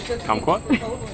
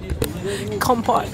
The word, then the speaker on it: compote: Kumquat? How do you say it? Compote.